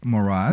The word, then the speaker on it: Morad: Morad. Morad. Yes, I finally said it right after 6 months.